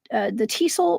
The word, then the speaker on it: Tisul: And this is known as the Tisul princess, is how you pronounce that.